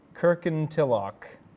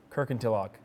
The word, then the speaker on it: Kirkintilloch: Try and pronounce that. I'm not going to. Please. This will make my day. Kirkintilloch. Good. Speed it up. Kirkintilloch.